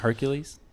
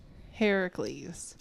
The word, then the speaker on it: Heracles: Not Hercules. Not Hercules. Heracles. And wasn't it like It's same person though. That's just the Roman pronunciation. It's Her Hercules. Heracles is the Greek pronunciation.